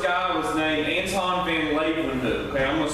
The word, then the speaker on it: Leeuwenhoek: The first guy was named Anton van Leeuwenhoek.